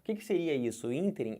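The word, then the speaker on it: ínterim: sílaba forte do ínter ruim aqui é a sílaba tônica o que que seria isso interim é um espaço de tempo é um intervalo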